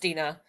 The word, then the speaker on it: Deanna: My name's My name looks like Diana. It's pronounced Dina.